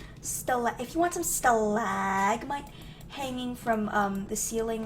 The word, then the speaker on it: stalagmite: to mention this but if you want likes talgamite how you pronounce I can never pronounce anything right what's